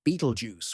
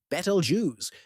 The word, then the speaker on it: Betelgeuse: Betalju pronounced either Beetlejuice or Betalju depending on whom you ask is a red super giant.